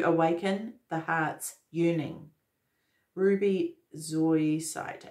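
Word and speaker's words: zoisite: it and it says meditate with Ruby zoinsight Zoe site to awaken the heart's yearning Ruby Zoe site it's spelled z-o-i-s-i-t-e meditate with that to awaken the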